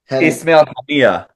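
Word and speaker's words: Ismail Haniyeh: And I was just reading, when I did my research, this guy, how do you pronounce his name again? Hayenya? Ismail Hania. Yeah, so responsible for 40,000 people dying, this guy.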